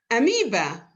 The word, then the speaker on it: amoeba: the letters e e amoeba amoeba a me amoeba o e so you see many